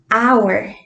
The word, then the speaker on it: hour: un poquito de ejemplo tenemos la palabra hour ahora es hora entonces si se dan cuenta esa palabra se escribe h o un r entonces ustedes en casa